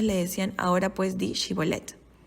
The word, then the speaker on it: Shibolet: eran fácilmente identificados porque para ellos era difícil pronunciar la H entonces en lugar de decir shibolet decían zolet y hay historias de